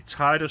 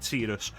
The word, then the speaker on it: Tidus: And some people say Titus, some people say Tetus.